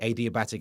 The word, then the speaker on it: adiabatic: It's what the adiabatic expansion of gas changes temperature. That's how it works. Some people pronounce it like a diabetic. I think they're wrong.